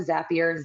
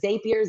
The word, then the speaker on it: Zapier: So, the first thing we're going to do is we're going to set up a Zapier. Zapier. Zapier.